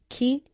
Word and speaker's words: qui: Le pronom relatif qui, quand il est suivi par une voyelle, à l'oral, jamais à l'écrit, va se prononcer QU apostrophe. On va éliminer le I.